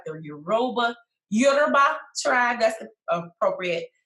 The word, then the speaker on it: Yoruba: So I am currently in the process of doing more research about the tribes, like the Yoruba tribe, that's the appropriate pronunciation, and the Igbo tribes.